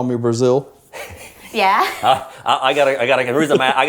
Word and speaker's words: Brazzel: that's not his name it's brazil like razzle dazzle razzle dazzle brazo that's how i